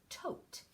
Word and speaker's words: tote: a tote and so if I cover up the e it says topped but with that silent e at the end it's using its magic powers to change the to own and it says - OH tote and then this is a